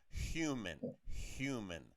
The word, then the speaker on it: human: And of course, when you're speaking English, different from Spanish, we say the word H. It's not silent. So you have to give a little sound. Human, human.